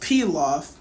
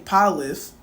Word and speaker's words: pilaf: Like my best friend also told me that pilaf is pronounced pilaf. I don't know if it's rice or whatever it is, but it's a type of food. But I was like, that's how you pronounce that? This whole time in my head I've been saying palif.